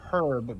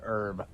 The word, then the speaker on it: herb: the queen's english it's herb because it has an h in it if you're using any other english it's herb h is silent i think it's funny